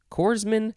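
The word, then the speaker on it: corpsman: actually no it would be coors man courseman coorsman so it's plural kind of i don't know it's that's weird it is spelled c-o-r-p-s-m-a-n i think that you could say corman but it's the pronunciation guy says coorsman so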